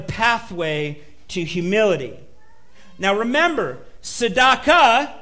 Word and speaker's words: Tzedakah: to humility now remember sadaka is a compound word it's got that ah sound at the end of it um we see this